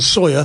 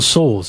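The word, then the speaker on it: Sawers: I was reading this week about John Sawyer, former head of MI6, and he actually made... John Saws, isn't it? John Saws. John Saws, is that how you say it? Yeah.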